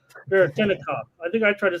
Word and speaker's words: Veretennikov: So Veretinikov, I think is how you say that. It'd take me a couple times to say. I think I was wrong earlier. I tried to throw in an extra tinna in there.